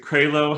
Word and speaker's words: Krailo: we are with mark um uh is it craylo how making sure i get your last name pronounced correctly correctly that is it um and